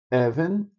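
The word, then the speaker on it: אבן: Você tem essa daqui que o acento é na penúltima sílaba. Meller, o rei Meller, o acento tá aqui. Even, que é pedra, even.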